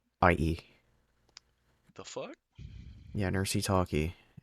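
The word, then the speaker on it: Necry Talkie: Nercy Talkie. Nercytalkie. The fuck? Yeah, Nercy Talkie. That's how you pronounce it, and that's the English spelling for it.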